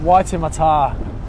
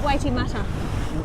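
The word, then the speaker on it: Waitemata: at oh it's okay it's it's whiter Matar white in the shark yeah not waiting matter oh that's an honest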